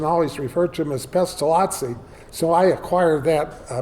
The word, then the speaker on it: Pestalozzi: I I think Aronn is right, it's Pestalozzi. But my advisor, Archibald Anderson, always referred to him as Pestalozzi, so I acquired that uh pronunciation.